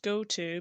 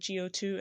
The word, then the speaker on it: GO2: racing car by go2 I know it's pronounced go to but I've always said go2 and I'm sticking by go2 then we know that